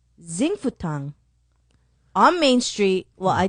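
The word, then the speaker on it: Xing Fu Tang: the boba i hope i'm saying it right zing fu tang what'd you call me x i n g f u t a n g zing futong on main street well i think they have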